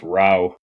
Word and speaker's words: Rowe: And just for others' edification, the last name's actually pronounced Rowe, but you wouldn't know I that.